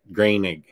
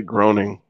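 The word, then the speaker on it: Groening: cover by matt green greenig is that how you say it i've never known how to say his name i always say groaning yeah i'm giving it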